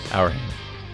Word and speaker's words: Auerhahn: How do you pronounce? Auerhahn.